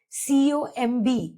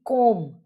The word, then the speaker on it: comb: Whenever an M the B is silent like lamb. C O M B would be comb not comb.